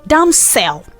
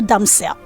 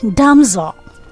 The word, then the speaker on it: damsel: I will give you a word like Damsel. Yes, beautiful damsel. Most people say that. But sweetheart, that word is supposed to be pronounced as Damsel.